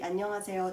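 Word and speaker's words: 안녕하세요: so i will actually teach you how to pronounce it so there is no need for a romanization so this part would be annyeonghaseyo tony yodersar so i said yo dersai because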